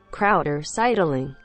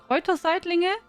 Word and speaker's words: Kräuterseitlinge: Krauter-Seidling. Do you say that? Kräuterseitlinge? Do you say that? Krauter-Seidling. Really? Sounds like you try to take the German word and try to pronounce it.